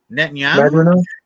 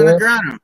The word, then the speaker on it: Negreanu: I sold a Daniel Negreanu, or how do you pronounce his name? Negreanu? Netanyahu? No, you ever watch poker? You ever watch like World Series of Poker? Oh, yeah. Daniel Negreanu.